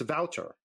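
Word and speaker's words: Wouter: close to it's it's it's like water like a like a Boston or Brooklyn kind of pronunciation of water water so more or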